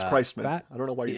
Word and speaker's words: Christman: It's Christman. I don't know why you do that. What? Christman? It's Christman. You don't call it Christ Mass.